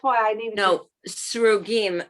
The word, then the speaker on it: Srugim: No, Srugim, it's spelled Oh, in English, chat. Go on. S-R-U-G-I-M, Srugim.